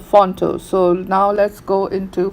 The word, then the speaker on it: Phonto: and for that I use a software called Fonto.